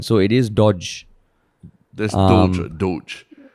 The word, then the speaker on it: Dogecoin: So according to the Wall Street Journal, it's pronounced as DOHJ coin. So it is Doge. There's Doge. Dogecoin.